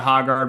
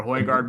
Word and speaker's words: Højgaard: And then, obviously, like you said, good week by the Hoggard brothers. Didn't quite get it done, but they Højgaard. Whatever, Hoygaard brothers.